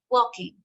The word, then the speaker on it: walking: Maybe some words like walking, we don't say walking. Okay, the L we don't pronounce, we say walking.